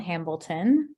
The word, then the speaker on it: Hambleton: thanks Jamie um so I'm Hambleton um sounds basically like Hamilton which is what people